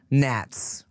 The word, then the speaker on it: gnats: I was trying to think of another word with a silent G. Gnats.